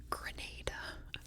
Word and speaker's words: Grenada: Next is Grenada, and yes, it is pronounced Grenada.